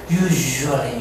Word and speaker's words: usually: 즉 아니고 casually, casually, casually, usually, usually.